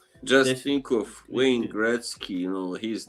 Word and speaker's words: Gretzky: I need to check out some more of React Poor, but Just This, think of Wayne Gretzky. You know, his name is that's the same way you pronounce those names that oh yeah, are yeah.